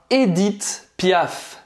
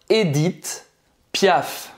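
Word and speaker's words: Édith Piaf: Edith, então esse primeiro E, ele é fechado, tá? Não é Edith, é Edith. O H no final não é pronunciado e não é Edith, não é Edith, você vai terminar a pronúncia no T.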